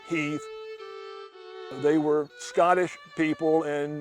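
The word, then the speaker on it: Heth: family black Heathman is spelled h-e-t-h they pronounced it Heath they were Scottish people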